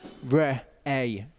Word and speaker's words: Re'eh: And you've got an aleph. That takes on the sound of the vowel, which is an A sound. And then you've got a hey at the end, which is pretty much a silent letter in this. So it's Re-A is how you say that.